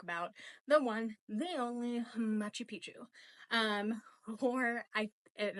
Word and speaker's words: Machu Picchu: the one the only Machi Picchu um or I and I might be butchering this Machi Picchu which is what the locals actually pronounce that and that's not actually